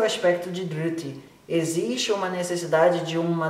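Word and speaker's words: dhṛti: Dhriti. Dhriti se escreve D-H, R com pontinho embaixo, T-I. Dhriti.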